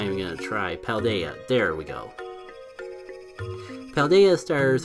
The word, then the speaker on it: Paldea: because I'm tired I'm not even gonna try paldea there we go Valdez stars are all the